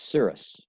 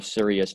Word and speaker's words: Sirius: That's Sirius, or Sirius, depending on how you want to pronounce it.